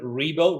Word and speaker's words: Ribo: look for my name that last name rebo rebo is spelled r i b as in boy o